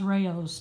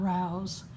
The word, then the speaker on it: Rao's: with the Rayo sauce and yes it is pronounced Rao's not Rao's I actually watched a video with Martha Stewart